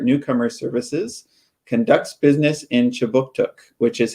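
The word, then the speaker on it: Kjipuktuk: But before we begin, I'd like to acknowledge that Right Start Newcomer Services conducts business in Chibuktuk, which is how you say Halifax in the Mi'kmaq language.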